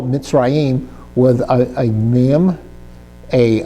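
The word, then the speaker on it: מצרים: So you would spell mitzim with a a mim, a uh zadi, a rash, a y ude, and a final mim.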